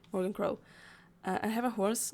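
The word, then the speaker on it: Morrigan Crow: Morgan Crow is how you say Morgan Crow.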